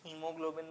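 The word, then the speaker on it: haemoglobin: Pigment हीमोग्लोबिन spelling देखो मैं जैसे प्रोनाउंस कर रहा हूं जान के ही कर रहा हूं तुम्हारे लिए वैसे कुछ लोग हीमोग्लोबिन बोल देते हैं मैं जान के तुम्हारे हेमोग्लोबिन बोल रहा हूं ताकि तुम स्पेलिंग भी वैसे ही याद करो। एच ए इ है। एच इ एम ओ नहीं है। एच ए इ एम ओ है।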